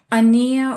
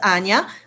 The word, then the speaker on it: Anya: It's Anya, but you were very close.